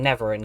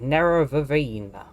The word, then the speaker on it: Nerevarine: are these like the i've been pronouncing never in completely wrong nero vevine lovely what are you